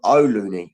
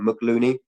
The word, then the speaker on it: O'Looney: a guy called John O'Looney. I think maybe I mentioned his name wrong. I think I maybe said John McLooney.